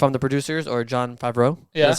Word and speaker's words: Favreau: That's what if I'm the producers or John Favreau.